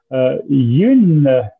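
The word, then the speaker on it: Huynh: Yun, si vous voulez peut-être juste me dire comment on prononce votre nom, oui? C'est Huyn, mais c'est pas mal.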